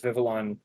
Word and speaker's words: Vivillon: But yeah, as was mentioned before, we do see the payoff to not having Compound Eyes as Vivillon.